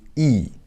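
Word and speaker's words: ㅣ: And here we have E. E looks like what? Looks like English alphabet I, right? And it's pronounced more or less the same.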